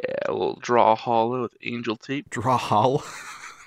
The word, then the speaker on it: Drahla: Drala. That's what we're going with for that one. I'm Yeah. gonna pronounce it differently every time.